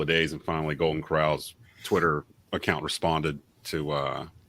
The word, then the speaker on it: Corral: thing with uh matt corll no sorry matt corral it's pronounced corral like golden corral who by the way